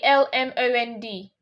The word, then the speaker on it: almond: We pronounce it like this, almond. Yeah. Almond. Yeah, almond. Almond is also correct, and you can say it as almond. So. Almond. Yeah, almond. Silent. Yeah, that's in British pronunciation.